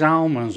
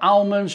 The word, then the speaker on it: almonds: to be toasting these almonds off now almonds or almonds you say it how you like it's spelled with an L but people say almonds that's up to you